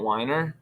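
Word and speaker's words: Wiener: So the governor, he's criticized by like Senator Scott Weiner, I believe is the pronunciation, said that the veto is a setback for AI community.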